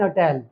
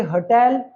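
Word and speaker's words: hotel: पहले लगता था एन लेकिन अब हम क्योंकि इसे अटल इसको हम अंबल इसको हम हिस्टोरिकल नहीं प्रोनाउंस करते हम इसे होटल इसको हम हंबल इसको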